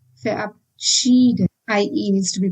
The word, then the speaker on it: verabschieden: V is pronounced as V in German, and that's why it is verabschieden and not verabschieden. Also, ER should be pronounced as ear, and that's why I said verabschieden.